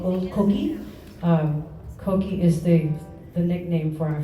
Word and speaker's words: Coquille: Coquille is the nickname for our French settlement. It's spelled coquille, but it's pronounced coquille because the double L in French is E.